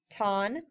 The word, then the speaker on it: tan: or adverb plus KO do not say tan y'all know how to pronounce these vowels t a ton plus adjective adverb plus